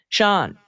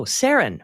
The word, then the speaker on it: Saren: First up from Sean, rhymes with heron. Oh, Saren.